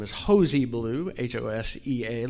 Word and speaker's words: Hosea: name is hosi blue H osea like the biblical Hosea but we all pronounce it hos E and that's just the